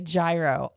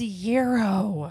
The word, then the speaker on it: gyro: was like 16 and people would come in and say gyro all the time it drove her nuts don't spell it with a G it's yo don't have silent letters and words it's